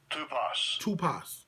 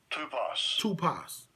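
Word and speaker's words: τύπος: Strong's G 5179. Tupos. Tupos. And it's spelled typo, T-P-O-S.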